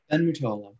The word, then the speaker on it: Ben Mutolo: Super excited to be here tonight with my guest, Ben Mutolo from, am I saying it right? Ben Mutolo? Ben Mutolo, yep.